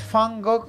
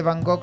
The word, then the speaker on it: Van Gogh: 13 personas muy atento si no me equivoco es fango el original así pero tú puedes decirle van gogh también si hacemos caso al español donde estamos si estuviera en la